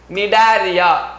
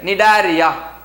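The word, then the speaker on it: Cnidaria: is different pylon sealant other name is nidaria sea silent nidaria so pylon sealant pylon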